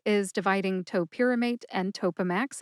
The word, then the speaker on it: Topamax: Topamax has three syllables. That's toe like the toes on your feet, P like pajamas, and max like maximum. Put all three syllables together and you get topamax.